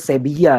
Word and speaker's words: Sevilla: Sevilla itu orang Spanyol baca V itu B ya. V itu dibaca B, double L dibacanya ya tasydid. Nah, jadi bacanya Sevilla yang benar ya.